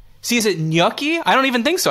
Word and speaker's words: gnocchi: to a place and you say you want gnocchi and they say like the ganachi yeah no the nachi yeah but I don't I think it's see is it gnocchi I don't even think so I think it's